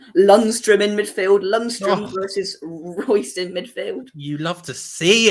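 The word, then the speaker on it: Reus: except lineups bellingham's playing royce is playing whatever is how you say his name marco royce that's it oh there's no oh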